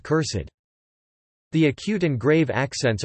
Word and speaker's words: cursèd: This use is frequently seen in archaic and pseudo-archaic writings with the -ed suffix, to indicate that the e should be fully pronounced, as with cursed.